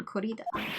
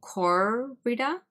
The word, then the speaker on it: Corrida: You would emphasize the first syllable, Corrida?